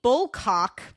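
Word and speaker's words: Bulcock: others accused were Jane Bullock her son John bul I'm sorry I said that name wrong Jane bullcock I need to grow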